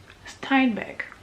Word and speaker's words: Steinbeck: colère de John Steinbeck, c'est comme ça qu'on prononce ton nom. J'ai regardé. Steinbeck.